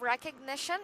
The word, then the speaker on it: recognition: And the stress is the third knee. Very good. So the third syllable is stressed, right?